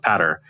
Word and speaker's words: Peadar: So your name looks like Peter, but it's pronounced Patter.